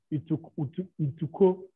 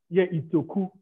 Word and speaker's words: Itoku: Everybody in the community is the correct pronunciation. Yeah, Itoku. Thank you very much, Itoku.